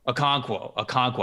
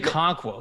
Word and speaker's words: Okonkwo: Okonkwo. I was not pronouncing the first K. Chig Okonkwo.